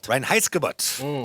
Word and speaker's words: Reinheitsgebot: Can you pronounce the name of the law? I cannot. The Reinheitsgebot. The Reinheitsgebot. Reinheitsgebot.